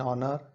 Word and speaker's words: honor: H is a consonant, but we have used N before all of the words because all the H is silent in all the words and the words pronunciation begin with the vowel sound, so we have used N there.